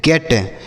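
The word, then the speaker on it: get: तो अगर इ लिखा होगा दो कोसोनेंट के बीच में तो हम ए की मात्रा पढ़ेंगे। समझ में आ गया?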